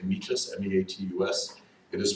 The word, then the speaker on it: meatus: eight Tests I know you want to say meatus me-80 us it is pronounced me ages to be terms you know it meant that